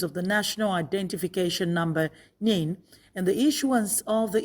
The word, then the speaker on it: NIN: is going and out the national identification number pronounced nin is what identifies an